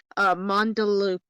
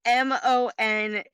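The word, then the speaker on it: Möndlukaka: Mandalukaka?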